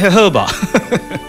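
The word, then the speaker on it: jojoba: জে ও বি এ, হ্যাঁ জোজোবা, জোজোবা, কিন্তু উচ্চারণটা হেহবা, বুঝছেন, খুব মজার ব্যাপার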